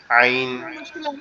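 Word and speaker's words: عين: আইন যে অক্ষরটা, এটা হচ্ছে আমাদের এই যে কণ্ঠনালীর মধ্যকান, অর্থাৎ আমাদের যে গলার যে উঁচু অংশটা আছে এইখান থেকে উচ্চারিত হয় একটু গলা চেপে। আইন, আইন, আইন, এভাবে, ঠিক আছে। একটু গলাটা একটু চেপে আইন, আইন, জি, আইন জি, একটু গলা চেপে আইন আওয়াজটা আসবে।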